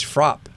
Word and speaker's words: frappe: a milkshake milkshakes are referred as frop the e is silent so when you i